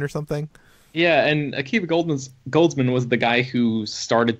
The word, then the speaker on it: Goldsman: It's a neat concept, but yeah, Akiva Goldsmith or Goldsman. What is his name? Goldsmith or Goldsman? Goldsman. Yeah, I think I mispronounced his name.